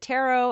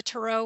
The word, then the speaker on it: tarot: to say that word is it tarot or tarot well I've noticed that people from the East Coast say tarot I say Tarot because it sounds more French to me now some